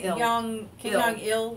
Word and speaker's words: Kim Jong-il: It was really Dear Reader, the unauthorized autobiography of Kim Jong II, and it's actually pronounced Kim Jong-il, whatever.